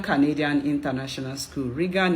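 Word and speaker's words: Roegan: But before I continue, Google Regan Canadian International School. Regan is spelled R-O-E-G-A-N.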